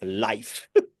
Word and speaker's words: Lyff: Life. I love that. I thought it was Liff.